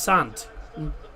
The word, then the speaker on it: Saint: I said Saint. It's not Saint, it's Sant. Paris Saint-Germain. Sant. That's how it's pronounced in France.